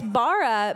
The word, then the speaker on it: Mara: is it Bara Barra it's Bara yeah I'm just because because it rhymes with my name yeah there you go so I always tell people oh yeah it's Mara like capybara now now I'll remember